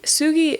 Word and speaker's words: sugi: Sugi is how you say cedar.